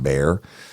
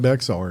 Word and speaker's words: Bexar: And she said, hey, Woody, it's actually pronounced Bear.